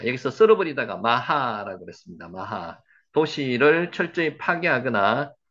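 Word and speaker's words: מחה: 마하. 요거는 뒤에 발음이 거의 약하기 때문에 안 나게 발음하심이 맞습니다. 그래서 마하흐라고 안 하고요. 마하라고 합니다.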